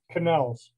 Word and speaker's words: Connells: uh the sound right how do you pronounce the name of the band again canals c-o-n-n-e-l-l-s and l's okay wanted to get